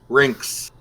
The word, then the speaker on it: Rhinex: And how's it pronounced? Rinks. Rinks. Just think of like Lynx, you know, Lynx, a lynx, Right. like the cat.